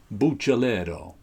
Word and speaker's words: Buccellato: But I know his brother went back to the Italian pronunciation of their name, Buccellato.